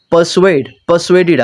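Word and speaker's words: persuaded: ये परसुएड नहीं बोलना, आर को यहाँ पे साइलेंट रख के बोले, परसुएडेड अस, यानी कि किसी चीज़ को, किसी को कन्विंस करना, कायल करना, ठीक है, आमादा करना।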